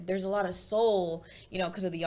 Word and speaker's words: Sol: So my artist name is Soul, and so I basically made my second name, you know, half of the album name. So it's spelled S-O-L, and the album name